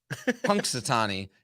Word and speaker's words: Punxsutawney: Punk, like a punk. Punxsutawney.